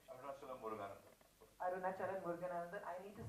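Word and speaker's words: Arunachalam Muruganantham: Arunachalam Muruganandan.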